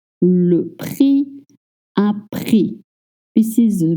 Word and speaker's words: prix: The PR sound is a little hard, but please do not voice the X at the end of prix. Le prix, un prix.